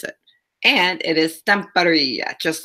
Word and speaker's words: Stamperia: so also we're going to be using the stamp area I actually learned how to say it and